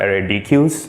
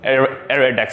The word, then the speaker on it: ArrayDeque: these these things are called air attacks not array DQ's there was someone pointed me to a English dart Stack Exchange link which there was like a massive discussion what's the correct way but area Dex is the correct pronunciation all right so bought